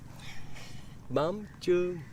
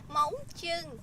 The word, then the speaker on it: mắm chưng: Mắm Chưng. Đúng. Móng chưng. Dạ dạ, móng. Móng chưng. Thôi nào. Đúng, mắm chưng.